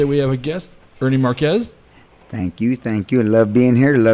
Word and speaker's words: Marquez: And today we have a guest, Ernie Marquez. Thank you. I love being here. Thank you for having me. I got it right. Marquez, right? Marquez, yep.